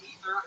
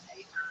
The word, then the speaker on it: Aether: God of Upper Air is actually pronounced Ether, and I was called Aether instead.